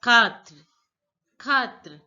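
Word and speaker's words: quatre: the Native French speaker TWA again food is pronounced as cut re now listen to the pronunciation of the Native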